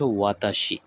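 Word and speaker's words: は: এই আই এম নিহানের যদি জাপানিজে translate করা যায় সেক্ষেত্রে হবে হলো ওয়াতাসি ওয়া নিহানদেস ওয়াতাসি ওয়া নিহানদেস আই আই মানে হচ্ছে আমি এবং এটির জাপানিজ হচ্ছে ওয়াতাসি আই এম এম পার্টিকেলটা হবে ওয়া ওয়াতাসি ওয়া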